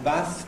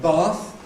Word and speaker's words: bath: Equally, the move from short vowel in Bath to long vowel in Bath is an innovation.